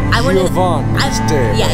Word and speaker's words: Giovanni's: Giovanni's Day. Yeah, you say it like an Italian, not Giovanni.